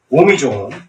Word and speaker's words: 옴: 그래서 이게 산스크리트, 버머에서 이게 옴이죠. 원래 발음이 옴도 아니고 음도 아니고 중간 발음이랍니다. 최초의 소리, 소리의 소리, 만물을 일깨우는 소리래.